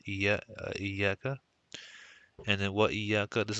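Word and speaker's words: إياك: This is always pronounced iyaka, and then what iyaka.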